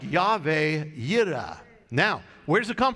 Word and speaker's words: Jehovah Jireh: Now, you have probably heard the expression, Jehovah Jireh. Right? Well, of course, that's not really how you pronounce it. It is more like Yahweh Yireh.